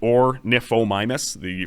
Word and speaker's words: Ornithomimus: So you can pronounce it Ornithomimus. For some reason, the TH makes an F sound.